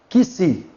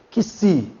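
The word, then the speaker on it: ξι: Aqui nós temos que-se. Que-se, ele é representado na sua transliteração para o português pelo K e o S. Pelo K e o S. Repita comigo. Que-se.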